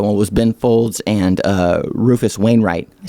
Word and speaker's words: Rufus Wainwright: We put Ben Folds and Tom Waits, or another one was Ben Folds and Rufus Wainwright.